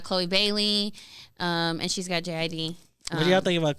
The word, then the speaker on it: JID: song with is it JID? Yeah. And they're Someone like told me he pronounces it as Jid, Jid.